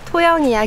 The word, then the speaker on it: 통영: 여기가 토영이야 길이에요. 예전에 통영 사람들이 통에 이응 발음하기가 되게 어려워가지고 토영 이렇게 불렀다고 하더라고요.